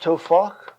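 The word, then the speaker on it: טפח: It would be pronounced tofach, Tofakh, and this means a hand breadth.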